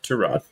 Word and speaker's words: Tyrod: The correct pronunciation is Tyrod.